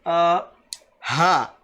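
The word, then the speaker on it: حاء: Okay, this ha is also from the throat, but this ha, it's much deeper. They say it's from the stomach.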